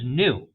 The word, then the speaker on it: knew: Jones knew, K-N-E-W, pronounced just like new, like the adjective, old and new, same pronunciation, different spelling.